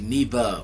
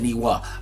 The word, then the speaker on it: Niwa: but it's weird because it got a w like me wall but it's actually neva which i i still don't understand but i guess the w is silent i guess i don't know but pretty much it's neva but i said but it said niwa but enough of that